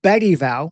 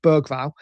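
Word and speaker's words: Bergvall: I think it will be Sa and Bedival, which apparently is the right way to pronounce it, right? We're English, Bergval.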